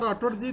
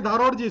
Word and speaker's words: धारोड: Hello राठोडजी, तुमचा आवाज मी unmute केलाय, तुमचा माईक चालू करून बोला तुम्ही. Hello hello. सॉरी राठोड नाही, धारोडजी.